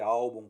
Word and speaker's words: álbum: terminações de certas letras e força na penúltima sílaba Ou seja a segunda de trás para a frente a exemplo de álbum por exemplo termin em